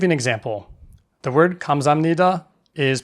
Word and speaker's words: 감사합니다: The word 감사합니다 (gamsahamnida) is pronounced differently than it’s spelled.